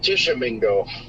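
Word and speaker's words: Tishomingo: I guess we do have a tiny little area of rotation near Tishmingo. That is uh Tishamingo. Otisha Mingo. Gotcha. That's how you pronounce it.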